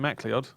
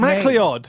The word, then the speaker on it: MacLeod: Trot would be a grand design, Kevin MacLeod. I think that's actually pronounced McLeod as well.